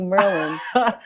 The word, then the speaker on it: Merlijn: I want to call you Merlin. You can call me Merlin. People call me Merlin, Merlijn, Merlijn. Merlijn is a Dutch official pronunciation, but I usually go by Merlin.